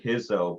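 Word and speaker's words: Risso: I always called him Eduardo Rizzo. Well, I said Hizzo, but that's my assumption that he's Portuguese.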